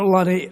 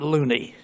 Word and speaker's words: Lunney: from new york professor lonnie i owe you a belated apology i previously mispronounced your surname you are not loony i stand corrected i always tell my students it rhymes with funny and i'm not crazy